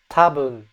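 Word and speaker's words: 多分: Tabun. That N sound is very very subtle.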